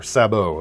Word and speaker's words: Sabot: This is the Mantis Sabot, or Sabot, it would be, the French pronunciation.